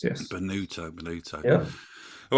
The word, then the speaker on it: Bonutto: Bonutto is how it's pronounced. Yes. Bonutto, Bonutto.